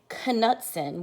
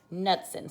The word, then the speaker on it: Knudsen: We don't say Knudsen, we say Knudsen. So the K is silent when you have a K and an N.